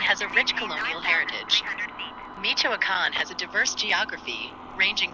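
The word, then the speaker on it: Michoacán: diversity okay he said tell us more about Michoacan that's how you pronounce it Michoacan is a state in West Central Mexico with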